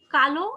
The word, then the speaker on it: কাল: হ্যাঁ আবার আরো কিছু শব্দ আছে যেমন কালো আর কাল, হ্যাঁ উচ্চারণের কারণে কিন্তু তুমি মানে পার্থক্যটা বুঝতে পারবে।